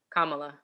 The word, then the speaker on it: Kamala: the election just happened the results are out kamala harris tell me how to say it actually kamala kamala okay kamala harris first vice president who